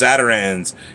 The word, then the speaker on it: Zatarain's: Zatarains. Zata, Z-A-T-A, and then Rains. R-A-I-N-S, but it's Zatarain's. That's how it's pronounced.